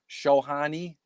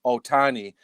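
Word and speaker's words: Ohtani: So in the AL, I have Shohani. Is that how you say it? Otani.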